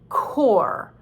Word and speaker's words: corps: next is the word core like c-o-r-p-s we do not pronounce the p and the s because in this case the french do not do it and we took the